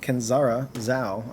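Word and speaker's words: Kenzera Zau: All right, so I'm playing more of Tales of Kenzara Zhao. I've been mispronouncing that whole name. But that is how it's properly pronounced and said.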